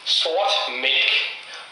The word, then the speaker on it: Sort Mælk: Jakob and Pierre, to tell you how to pronounce it. It's Tool Sort Mælk, which means black.